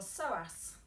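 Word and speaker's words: psoas: and then back up P is for sauce with a silent P so into a lunge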